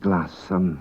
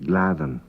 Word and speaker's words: glassan: gladen is solid gladen the dou s is pronounced like a th that's what we call medial dou s at one time it would be pronounced glassan but now it's pronounced glavin k roit k roit is